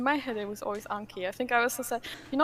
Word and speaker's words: Anki: in the next sentence you said anki because i say anki and everyone else is i'm pretty sure that everyone else is anki so i think you're the one who's in the right but i've always just